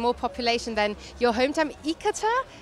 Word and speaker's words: Ithaca: more inhabitants and more population than your hometown, Ithaca? How have I pronounced that? Ithaca.